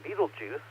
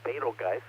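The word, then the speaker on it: Betelgeuse: the Winner's Circle and Beetlejuice uh or betelgeist is a lot of the way I like to pronounce it is that Center star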